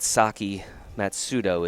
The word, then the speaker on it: Saki Matsudo: get but for now we are confident that Saki matsudo is the proper pronunciation so she's looking to